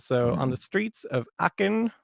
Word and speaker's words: Aachen: on the streets of Aachen that pronounced arc and eventually been zarkan